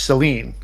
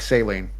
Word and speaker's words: Saline: out here called uh spelled saline, but it's pronounced Seline, and this is very difficult for me. Uh because it looks like saline.